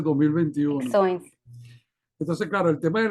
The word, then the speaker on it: Ficções: Fiction 2020 y Acervo de Ficções, ¿cómo se pronuncia? 2021. Ficções.